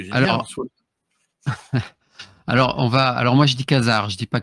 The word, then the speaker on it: Khazar: Ce que j'ai Alors, moi je dis Khazar, je dis pas Cachard ou Kajar, moi je dis Khazar, mais peu importe la prononciation.